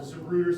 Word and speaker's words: Zapruder: As he's driving 1233, and there's something called the Zapruder, spelled with a Z, it's a Zapruder film.